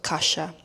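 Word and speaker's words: Kasia: Um, so it is K A S I A, but the SI is the equivalent to in English S. So, Kasha, the I is not actually pronounced.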